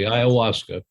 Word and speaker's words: ayahuasca: I've heard you speak a little bit about iasa am I pronouncing it correctly you are pronouncing it correctly iasa and um I was interested actually because from